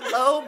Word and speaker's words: Lowe: a Tampa Bay Ray, last name Lowe, pronounced Lowe, and his wife going through this fertility journey, and they had a baby, and it was beautiful.